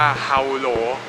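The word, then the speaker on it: Hỏa Lò: อยู่ ที่ ครู คิด ชื่อ ว่า ออก เสียง ว่า เอา โหล หน้า เป็น เรือน จำ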